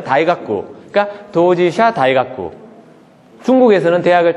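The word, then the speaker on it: 大学: 대학이라는 말도 일본말로 하면은 다이가쿠.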